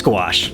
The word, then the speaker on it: gouache: It's gouache, that's how you say it.